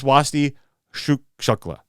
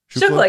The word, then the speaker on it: Swasti Shukla: It's Swasti Shukla. Shukla, yeah. It's just like it's spelled.